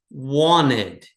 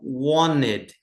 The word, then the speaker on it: wanted: Então, wanted aqui uma dica de pronúncia. O inglês americano, geralmente ele não pronuncia esse T aqui, ó. Então é como se não tivesse t aqui. Então wanted então want presente, wanted passado.